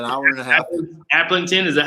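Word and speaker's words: Aplington: Applington, is that how you say it?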